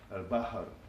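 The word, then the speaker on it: البحر: And for the sea and things related to the sea, the root is B, H, and R, al-bahr.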